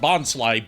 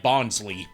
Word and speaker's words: Bonsly: Like how different parts of the English dub of Pokemon call what should be called Bonsly, Bonsley.